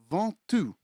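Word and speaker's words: Ventoux: And it's pronounced Vantoux. Vantoux. I know nobody's going to call it Vantoux, but in in this video we're going to we're going to try.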